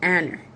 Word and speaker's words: Aner: A brother, D, or a relative or an ally of Eshkol and Aner. E s h c o l, Eshkol, and Aner, a n e r, all of who were allied with it.